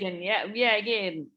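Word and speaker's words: Geoghegan: Because a good part of the plot was when Cathy started working with Polly Page, played by Lisa Jegan. Is that the right way of pronouncing it? Jegan, yeah.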